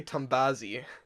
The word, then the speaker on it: Tombazi: Tombazi, which Okay. kind of rhymes with Nazi.